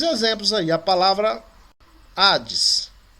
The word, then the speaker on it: Hades: A palavra Hades. A palavra Hades, ela tem uma aspiração áspera em cima do alfa. Então, quando você vai transliterar, ela vem com H.